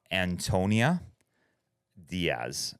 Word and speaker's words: Antonia Díaz: And then we also have Antonia Diaz. That's right. You're one of the first to pronounce my name exactly right.